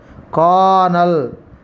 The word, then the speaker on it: colonel: Colonel. Colonel is a pronunciation. Colonel is a wrong pronunciation. Generally, many students have mispronounced colonel. Colonel is a wrong pronunciation or mispronunciation. Colonel is a right pronunciation.